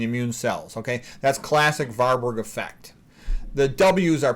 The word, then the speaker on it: Warburg: of European languages and I'm sort of in the habit of pronouncing it like a V so you can pronounce it as varberg or warberg effect either way all